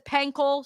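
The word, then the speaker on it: Pancol: Um P an o listened to it this morning to confirm, but a couple broadcasters had different ways of pronouncing it. Tessaturator says Penle, so we're going to go with what Tess says.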